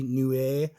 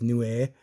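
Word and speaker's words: Niue: the Iowa new Nui n-i-u-e new a um heard two different pronunciations on that but I'm gonna go with new a uh this is a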